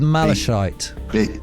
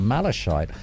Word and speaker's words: malachite: what it's about malachite I'm pronouncing malachite but I don't know if it is it's m a l a c h i t e Mal malachite malachite CH not a CH I don't think it's a CH don't